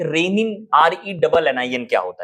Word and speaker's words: Renin: Pronunciation दोनों का same होता है, लेकिन इनके मैकेनिज्म में, इनके प्रोसेस में, इनके सिक्रीशन में डिफरेंस होता है।